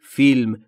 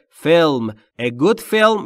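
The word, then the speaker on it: film: خوب فلم فلم یعنی فیلم تو فارسی میگیم فیلم ولی تلفظ درست انگلیسیش اینجوریه فلم یعنی یک فیلم خوب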